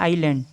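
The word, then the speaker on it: island: इसमें आइस आ रहा है और उसमें आइलैंड आता है, यानी कि साइलेंट होता है आइलैंड।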